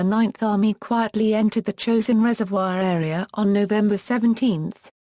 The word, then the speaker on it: Chosin: the Korean Korean Peninsula the name chosen is the Japanese pronunciation of the Korean place named Chang Jin and the name stuck